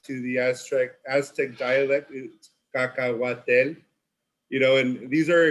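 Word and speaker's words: cacahuatl: take it back to the AZ Aztec dialect Kaka watel you know and these are ingredients which are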